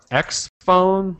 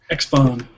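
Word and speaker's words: XFON: Another topic, just briefly, the Motorola X Phone, which is spelled X-F-O-N. X-Phone.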